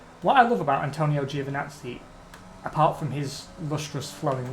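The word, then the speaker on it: Giovinazzi: ends with the uh with nazi which is actually the correct pronunciation but people call him juvenazi to avoid it as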